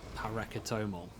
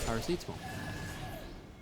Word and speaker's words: paracetamol: I will say Paracetomal. Paracetomal is, of course, the well-known painkiller, paracetamol.